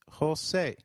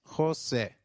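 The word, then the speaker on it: José: Jose is pronounced as Jose with a stress on e as it is accented almost sounding like the e i in eight the letter J sounds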